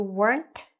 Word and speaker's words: weren't: Make sure you're saying that t. You weren't sleeping.